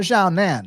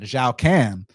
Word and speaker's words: Xiaocan: We got Feng Xiaocan, not Xiaonan, Xiaocan. But I think it's pronounced Xiaotan.